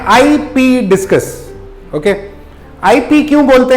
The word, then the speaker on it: Ipoh: Okay, Anil ये इंपोर्ट करते हैं, इनको बोलते हैं आईपी डिस्कस।